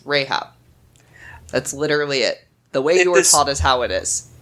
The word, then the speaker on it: Rahab: It's Rahab. Okay. It's literally the closest to the Hebrew pronunciation. I don't understand why everyone in here calls her Rahab.